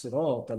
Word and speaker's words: صراط: সদটা আর একটু মোটা করতে হবে, সিরাত।